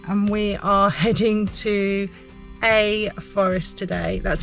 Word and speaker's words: Ae Forest: in the sunshine and we are heading to a forest today that's how it's pronounced I think it's spelled AE Forest um